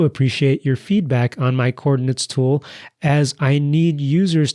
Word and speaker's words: Chordinates: And Chordinates is spelled like chord, as in musical chords, combined with the math word coordinates.